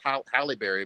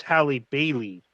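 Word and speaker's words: Halle Bailey: that i think it i think you pronounce it haley barry not halle berry but haley berry oh yeah daily bailey it's hallie bailey highly bailey god i'm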